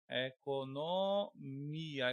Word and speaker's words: economia: Economia. Economia não tem acento, até porque ele é paroxítona. Economia, o mi é a sílaba mais forte, mas eu coloquei também acento.